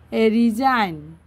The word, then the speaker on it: resign: science S সি আই এন C science science silent letter C রিজাইন আরই এস আই জি এন রিজাইন রিজাইন হত